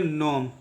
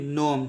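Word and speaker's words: gnome: में इसका उच्चारण करेंगे नोम जी का कोई आवाज नहीं होगा जी साइलेंट होगा ठीक है इसका कोई उच्चारण नहीं करेंगे सिर्फ जी के अलावा बाकी जो उसका उच्चारण करेंगे इसको पढ़ेंगे नोम ठीक है इसका मतलब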